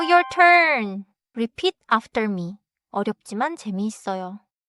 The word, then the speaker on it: 어렵지만: 어렵지만 재미있어요. 어렵지만 재미있어요. 좋아요. One small sound note. 어렵지만 is pronounced with smooth transition. Not as two separate English style words.